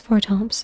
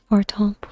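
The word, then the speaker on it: Fortemps: By the way, if you're wondering why I'm pronouncing Fortomp without the S, I don't think that French language pronounces the S.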